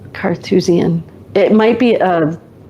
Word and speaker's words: Carthusian: know what a is Carthusian just like Carthage?